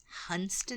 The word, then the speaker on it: Hunstanton: it's not coming to me this one hunston hunston yes all right hunon when in doubt just